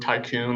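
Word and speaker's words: Thai Kun: So it's spelled THAI space KUN. Oh. I think it's kind of a play on the word tycoon, like the tropical storm, but it's just amazing Thai street food.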